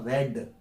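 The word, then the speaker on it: read: और past indefinite में second form, तो सेकंड फॉर्म लिखते तो ऐसे ही है, लेकिन पढ़ा जाएगा इसको रेड। रीड की first form रीड, रेड, रेड, लेकिन स्पेलिंग सेम होती है।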